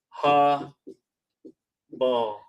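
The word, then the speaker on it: הבל: Habal is H1892 is pronounced ha ball.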